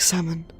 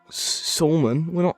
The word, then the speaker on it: salmon: It's like salmon. There's a U after the SAS, so not really. Wait, what? Salmon? We don't say it salmon, we say salmon. I say salmon. There can be silent letters.